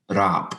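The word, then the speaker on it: rāp: Will you give us a pronunciation of both parts? Stigen for the verb to climb, and rap was rope.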